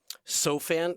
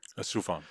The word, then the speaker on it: Soufan: You just released through the SOFAN, did I pronounce that right? SOFAN Center? Soufan.